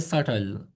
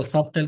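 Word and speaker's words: subtle: इन a right way एस यू बी टी एल ई इसको हम कहते हैं सल। सल कुछ लोग इसको सबटल कहेंगे पता नहीं अजीब अजीब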